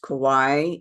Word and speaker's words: Kauai: There is a very famous Hindu temple there on this island of, I think it's pronounced Kauai in Hawaii.